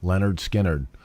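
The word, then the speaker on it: Lynyrd Skynyrd: come in and said pronounced runs vogue remember leonard skinner runs vogue i'll never mess that up again that's the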